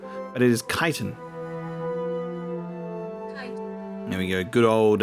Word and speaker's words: chitin: it's spelt, which is chitin, but it is chiton. There we go. Good old uh pronunciation coming in clutch. Let me try and remember that. Kaizen. It's the K sort of CH.